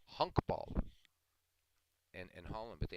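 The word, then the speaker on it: honkbal: it's just cracks me up and it is pronounced exactly as it said it's called hunk ball in in Holland but they have professional baseball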